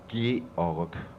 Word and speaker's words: Georg: So you pronounce your name Gorg, is that correct? It's pronounced Georg.